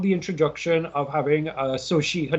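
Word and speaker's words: Xochitl: two i love the introduction of having uh so she her name is pronounced uh so she sushi gomez as american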